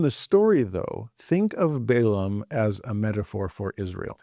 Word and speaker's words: Balaam: So Balak sends messengers to Balaam. Balaam is probably how you pronounce it in Hebrew, but we'll call him Balaam for English speakers.